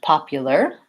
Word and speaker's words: popular: And same with popular. We have the same U at the end, or you can think of it like you-ler, and just with a pop at the beginning.